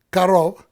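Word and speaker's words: קרוב: Karov es un adjetivo y también se pronuncia, como dijimos, karov, cerca.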